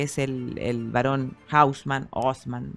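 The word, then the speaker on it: Haussmann: el el varón hausman osman la verdad no sé dependiendo lo pronuncien los franceses husman pero lo que pasa es que los franceses dicen osman osman claro eh Y entonces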